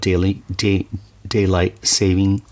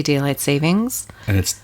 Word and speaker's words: daylight saving: The problem is we always add an S to Yes. it, but there's no actual S in it. We always say daylight savings, And it's daylight saving time, which I just learned today.